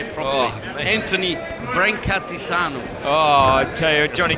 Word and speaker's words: Brancatisano: Anthony Brancatisano.